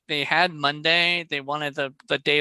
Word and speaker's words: Munday: you did it okay it's just like the day of the week over the year but